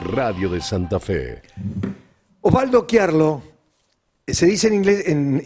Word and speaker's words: Chiarlo: Es Chiarlo, bien pronunciado.